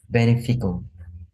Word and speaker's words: beneficial: have sent you it's beneficial beneficial can you say that please Quang beneficial beneficial good okay beneficial the Sea by the way the CI is pronounced like a sh beneficial just means something